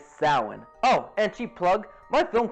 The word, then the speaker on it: Samhain: The officer then draws their attention to the blackboard where Dr. Loomis mistakenly pronounced the word Samhain. The correct pronunciation is Samhain.